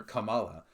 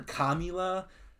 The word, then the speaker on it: Kamala: Unless you're calling her Kamila, commie, then you're just stupid, but at least you're not racist.